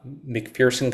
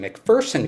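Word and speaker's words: McPherson: Uh, McFersonson College in MC, sorry, I always say it wrong. It's actually McFersonen College in McFersonen, Kansas.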